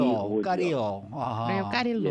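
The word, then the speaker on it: Leo Carrillo: 레오 까리오, L-E-O죠. 까리오. 아하. 레오 까릴로. 예. 레오 까릴로. 네, 예. 이 까리오 이게 LL이 이게 스페니쉬로 얘기하면은 발음이 안 되니까 까리오로 발음을 해야 될 것 같은 느낌이 드는데.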